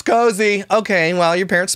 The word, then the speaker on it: Koazi: Pronounced, oh, cozy.